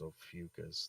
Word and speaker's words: Ophiuchus: it means serpent bear in greek and is pronounced ophiuchus the mythological character was inspired by the constellation